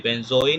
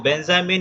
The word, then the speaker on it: बेंजोइन: बेंजोइन या बेंजामिन के नाम से। देखो बेंजामिन इसका मिस प्रोनाउंसिएशन है, इसको रॉन्ग तरीके से बोलते बोलते इसको क्या बोलने लगे लोग, बेंजामिन भी कुछ लोग बोलते हैं।